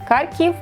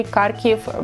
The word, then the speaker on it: Kharkiv: how to say it correctly carico of Kharkiv Kharkiv is a Ukrainian version and you can see Kharkov when you book their airplane ticket because our